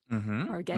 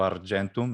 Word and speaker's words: argentum: Argentum. Absolutely. Prompto argentum, ecclesiastical. Prompto argentum, classical pronunciation.